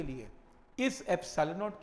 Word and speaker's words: epsilon: Symbol का नाम है, प्रोनाउंस करते हैं इसे एप्सिलॉन।